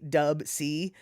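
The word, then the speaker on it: Dubsea: And then it's spelled D-U-B-S-E-A, Dub C.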